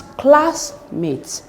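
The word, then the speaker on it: classmate: a compound word and the stress should be on the first word which is classmat classmat this is the first word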